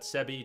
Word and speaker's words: Sebbe: welcome most welcome sebie I say that sebie to two syllables ah thank you I'm